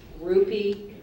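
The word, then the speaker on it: rupee: i that is correct your word can have the accent on either one of the syllables I'm going to pronounce it both ways rupe or rupe rupe or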